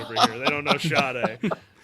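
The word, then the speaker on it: Sade: Is that it's shade? I always thought it was sad. No, it's shade.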